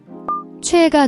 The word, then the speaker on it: 최애: The cho has a distinct CHW sound, combining CH and OE.